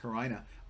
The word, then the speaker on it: carina: time remembering the word karina or karina it's pronounced karina because of her quote split personality remember that